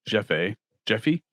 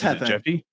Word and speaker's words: Jefe: Jefe Moreno or Jeffy? It's Jefe. Jeffy Dahmer? Jefe. You had it right. Right. It's Jefe. Jefe.